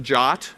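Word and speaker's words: JWT: JSON web token a jot you call it jot for short they even put that in the spec pronounced quote Jo T close quote so the jot is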